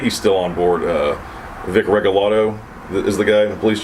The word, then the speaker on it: Regalado: Vic Regalado is the guy, the police chief. I think he's still working. But anyway, I saw his name wrong, and I thought it was Vic Regaldo, and I made this